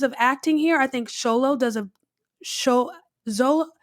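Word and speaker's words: Xolo: Okay, so phonetically, if I'm looking at his name, I would say Zolo with that Z. But when I hear him say his name, it sounds like Sholo.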